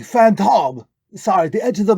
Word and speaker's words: Phantom: It's pronounced Phantom. No relation to that other guy. I don't know if emphasizing a different syllable is going to protect you from getting sued by the Phantom.